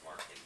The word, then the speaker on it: Marchetti: It's pronounced Marchetti, which it pitches for us, so that's why I know.